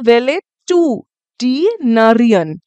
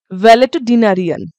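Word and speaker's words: valetudinarian: ভেঙে ভেঙে করবে যেরকম আমি ভেঙে ভেঙে বললাম ভ্যালে টু ডিনারিয়ান ভ্যালে টু ডিনারিয়ান একসাথে বললে এরকম আর আমি ভেঙে ভেঙে বললাম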